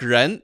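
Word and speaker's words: rén: Like ren, that word is R. That starts with R. It's the same thing. And the pinyin spelling is R-E-N. And that pronunciation is ren.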